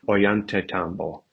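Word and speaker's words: Ollantaytambo: you go directly to oant Tambo and it looks like oo but it's the Double L in Spanish I just how they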